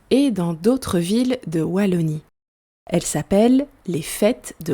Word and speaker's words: Wallonie: Petit point prononciation, en Belgique, on prononce Wallonie et pas Wallonie.